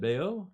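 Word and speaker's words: Bayeux: visited Bay you how do you say that Bayo Bayo Bayo yeah in in France how do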